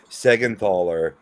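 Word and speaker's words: Siegenthaler: Larry Adam um I'm gonna believe that this pronunciation is Jonas secondthaller is uh Dougie Hamilton's uh pairing on the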